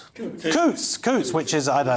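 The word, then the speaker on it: Coutts: In one of the most notorious cases, reform UK leader Nigel Farage was dropped by Couts Couts Coots Coots, which is I don't know, that's far too rich for me.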